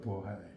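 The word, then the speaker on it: 渤海: 그러니까 발해라고 하는 것도 이제 버하인데요, 버하이.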